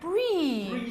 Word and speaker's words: Bree: it what street is how do you pronounce it it's like the cheese hey we're the elderly street all right bree spring street yeah okay